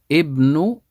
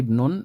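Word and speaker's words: ابنُ: Ibnu Muhammadin. I didn't say Ibnun, I said Ibnu because it's mudaf ilayh.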